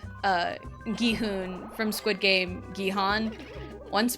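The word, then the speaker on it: Gi-hun: And I was trying to say Guhun and it it was a conscious effort to say Guhun, but my mouth was just like Guihan.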